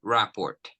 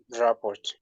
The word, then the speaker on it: rapport: starts with the Rapport again pronunciation Rapport Rapport Rapport double P so we say Rapport ra so what is the